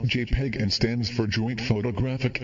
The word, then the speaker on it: JPEG: used for images on the web JP is pronounced JPEG and stands for joint photographic experts group the